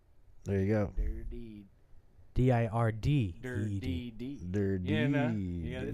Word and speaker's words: Dirdeed: Dirdeed. Dirty. Yeah, no, you gotta, it's Dirdeed. D-I-R-D. You gotta kind of slur it. It's not a dirty. It's a dirty.